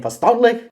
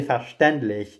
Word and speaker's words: verständlich: up everything by saying "verstandlich," which I found so funny because of how he managed to pronounce that particular German word when it's actually verständlich.